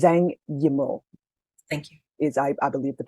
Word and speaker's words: Zhang Yimou: As a person who has a name that is often pronounced incorrectly, it's Zhang Yimou. Thank you. I believe the pronunciation might be Yimou too, but we'll just put it out there since they were mentioned.